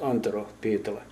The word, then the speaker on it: Antero Pietila: But in Finnish, which is the country of my origin, Finland, it is pronounced Antero Pietila.